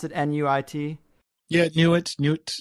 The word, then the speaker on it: Nuit: How to pronounce it, N-U-I-T? Yeah, Nuit. It's the Egyptian language didn't have vowels. Well, obviously it did, but the translations from hieroglyphics. So Nuit is NT. So it's Nut or Nuit, or it doesn't matter.